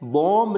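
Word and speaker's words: bomb: Next है बॉम्ब नहीं बोलना, अपन क्या बोलते हैं, बॉम्ब, बॉम्ब नहीं होता है, क्या होता है, बॉम्ब, इसको बॉम्ब बोलना है, यानी बी को क्या करना है, प्रोनाउंस नहीं करना, बॉम्ब।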